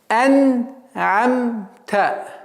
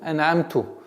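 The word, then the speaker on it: أنعمت: Нужно обращать внимание на эту огласовку та, чтобы не было произношения ту, ан'амту, которое очень грубо меняет смысл этого слова и в контексте всего аята.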